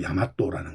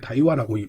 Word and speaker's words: 大和: 정통이라는 명칭을 붙이게 되었는데이 대화라고 하는 것을 발음을 보게 되면 이것이 바로 야마토라는 것이죠 쉽게 얘기하면이 대화를 발음으로는 다이와라고이 부르고 있습니다만 그들의 입장에서는 이것이대 일본로다